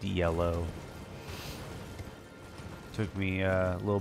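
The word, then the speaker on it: Yelough: got the time yeah that weird spelling with the Y that's pronounced yellow took me a a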